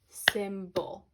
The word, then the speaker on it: symbol: See how the Y is making a short I sound because it is part of a syllable that's happening inside that word, okay?